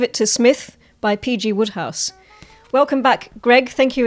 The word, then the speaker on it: Wodehouse: who is pg roadhouse the correct pronunciation is woodhouse but i grew up with him in my head as roadhouse so i can't change but um so i i